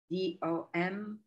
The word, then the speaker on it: DOM: browser uh and and dom is is usually pronounced dom it's the document object